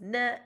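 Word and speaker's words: не: The Bulgarian no is pronounced ne, and in Greek that means yes.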